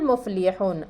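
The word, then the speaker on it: الْمُفْلِحُونَ: हुमुल मुफ़लिहून अलिफ लाम दाखिल है, लाम पढ़ा जा रहा है तो ये हुर्फ़ क़मरिया का कायदा हो गया।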